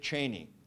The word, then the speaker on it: Cheney: My uncle, came across a constituent letter to then Secretary of Defense Dick Cheney. Cheney, that's the way he pronounces it.